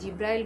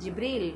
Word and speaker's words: জিব্রিল: জিব্রাইল আলাইহিস সালামের মাধ্যমে, আমরা অনেকেই জিব্রাইল বলি, ওনার অ্যাকচুয়াল নাম হচ্ছে জিব্রিল, নট দ্য জিব্রাইল। বাংলায় বললেও হবে না, বাংলায় উচ্চারণ করলেও আপনাকে জিব্রিল উচ্চারণ করতে হবে।